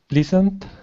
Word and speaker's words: pleasant: Pleasant? Actually, this is the same sound as in the word peasant, except you add an L. So now it's pleasant.